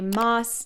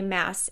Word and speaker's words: Maas: the first one is I thought it was Sarah J moss not Sarah J mass and you are correct I know I call